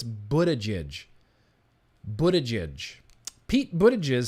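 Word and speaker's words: Buttigieg: hear from another guy here Pete Buddha Jish Buddha judge Buddha judge that's how you say it I'm pretty sure it's Buddha judge Buddha judge Pete Buddha jizz says they should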